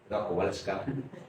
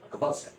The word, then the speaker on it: Kowalska: Kowalska because that is Polish pronunciation. Kowalska. Kowalska.